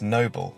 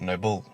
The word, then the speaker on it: noble: two-syllable word noble that can only ever take its stress on the first syllable it's noble not noble meaning this line contains